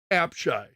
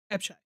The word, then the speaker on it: Apshai: Also Gateway to App, I'm going to mispronounce this. It's Apshai. Apshai.